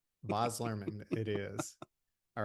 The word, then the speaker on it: Baz Luhrmann: And and it is Bos Lurman because I wanted to be sure I pronounced that right. I I didn't want to say Baz and if it's not come at me, bro.